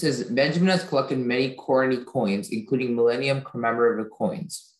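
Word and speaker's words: koruny: Corony. Can I have all the information? Corony is the only pronunciation.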